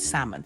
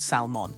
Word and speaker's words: salmon: it's the same thing also the word salmon and no it's not salmon the L just disappears let's move on to